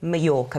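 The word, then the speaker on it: Mallorca: That's the proper spelling of it is obviously double L, but that is the same pronunciation of Majorca.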